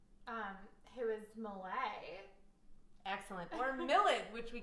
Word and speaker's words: Millet: Pronounced one way, it's a grain. Pronounced another, it's the French painter of The Gleaners. Who is Malay.